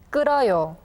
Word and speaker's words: 끓어요: Well, in this case, the 히읗 sound becomes silent, so please listen carefully to how 선생님 pronounces the words. 잃어요, 잃어요, 달아요, 달아요, 끓어요, 끌어요.